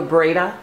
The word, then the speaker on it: Breda: okay last week in May it's called the Breda yeah b-r-e-d-a okay and I think I'm pronouncing that correctly and then after that I'm